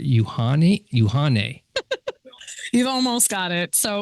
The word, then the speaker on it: Uhane: I pronounce it right, Uhane. You've almost got it. So what is it? Uhane. Oh, Uhane. It's two O's. I saw that. I saw the phonetics. Uhane. So it is Hawaiian.